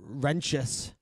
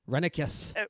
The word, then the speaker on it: Renicus: Who is known as One Wrenchus? Renicus. Where do people get Wrenchus? There's no CH in there.